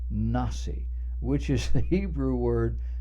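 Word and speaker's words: נשיא: letters next to the word nasi not nasty nah see which is the Hebrew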